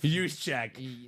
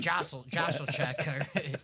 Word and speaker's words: Juszczyk: I told him the right pronunciation. Nah, you should have. Juszczyk. I should have told him something different and messed with him. Josselchek. Jossicek. Juszczyk.